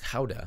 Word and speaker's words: Gouda: grams of fresh grated Gouda, or technically it's pronounced Gouda, a little bit of salt to taste, optionally